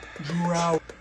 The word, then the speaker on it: drought: No Dr No D no it's D ow drought remember just because they're spelled the same doesn't mean they sound the same